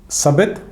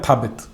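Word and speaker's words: ثابت: तो पहले जिसे भेजा मोहम्मद बिन अब्दुल्ला ने, उसका नाम था सबित या थाबित, अलग अलग तरह से प्रोनाउंस किया जाता है।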